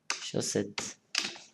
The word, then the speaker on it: chaussette: Deux S, ça veut dire, hein, ça veut dire le sens C, chaussette.